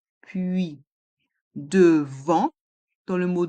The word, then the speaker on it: puis: Et dans le mot puis, nous avons le son UI avec les voyelles U et I. Et le S est muet. Puis, devant, dans le mot